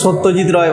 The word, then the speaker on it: সত্যজিৎ রায়: তো অ্যাকচুয়াল নাম শরৎচন্দ্র চট্টোপাধ্যায় সত্যজিৎ রায়, নট সত্যজিৎ রে, শরৎচন্দ্র চট্টোপাধ্যায়।